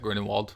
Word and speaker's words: Grindelwald: I think you got it right, Grindelwald.